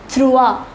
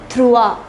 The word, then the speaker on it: trois: Number 3 is trois. I repeat, trois.